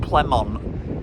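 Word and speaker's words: Plémont: where we are now I was pronouncing it PL plenon plont and he was saying it's plon I was like all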